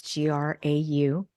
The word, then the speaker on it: Grau: It's Grau, pronounced like Tim McGraw, but it has a U on the end.